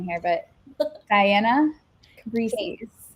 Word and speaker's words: Cabrices: Cab, like a taxi cab, rice, which I love to eat, and then an S at the end. So, cab, rice, s, cabas.